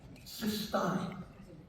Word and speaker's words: cystine: So, now let's look at another amino acid called cystine. Again, note the difference in spelling and pronunciation.